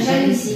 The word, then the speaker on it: жалюзі: Як ви думаєте, правильно жалюзі чи жалюзі? Хороше питання. Жалюзі. Правильно чи ні? Неправильно. Правильно жалюзі.